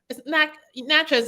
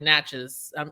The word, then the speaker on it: Natchez: know kind of a Mac nachos isn't like a small small town but it's um right I'm also saying it wrong it's like Natchez I'm I'm saying matches snatches I'm saying it